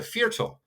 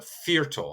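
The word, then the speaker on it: Viertel: would you like a fertil is one quarter of a liter. And so you hear again that V is more of an F. So it's a fearal, a hard attack on that V.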